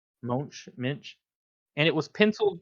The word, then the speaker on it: Moench: Minch, maybe it's I think Moench. it's Monch.